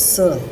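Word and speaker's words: Sœur: she said Born Shoes sir he knows yes you are is the spelling for sister in French it is pronounced as Sir in puc we were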